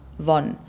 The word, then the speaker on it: won: Die koreanische Währung schreibt sich W-O-N, Won, wird allerdings ausgesprochen wie die englische 1, also Won.